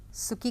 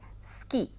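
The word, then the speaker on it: 好き: लेकिन इस समय हम लोग केवल सुकी करेंगे और उसको जापानी में कहा जाता है स्की। सुकी नहीं कहा जाता है। बहुत ज्यादा बहुत हल्का सा उ का उच्चारण किया जाता है।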